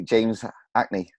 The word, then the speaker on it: Hackney: we pronounced h's whereas you don't really pronounce the H right yeah that's correct so we would say James Hackney yeah no hey I